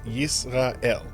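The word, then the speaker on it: ישראל: We're going to use the local pronunciation for this country, and we're going to call it Yisrael.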